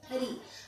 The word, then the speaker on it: ऋ: स्पर्श करे, तभी आपकी इन वर्णों का सही उच्चारण होगा। जैसे री, अगर हमने री बोला तो आप जैसे रा